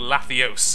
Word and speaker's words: Lathios: Or Lathios, if we're going with the Helios thing. Which apparently is the correct way to say it, according to all the comments.